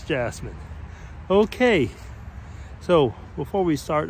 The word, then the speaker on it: Jasmine: I was almost going to say Yasmin because actually that's how it would be pronounced over here in Switzerland, but it's Jasmine.